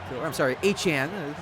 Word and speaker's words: Etienne: As that's a pickup of about 6 there by, Etienne. Obviously, he said he was pronounced.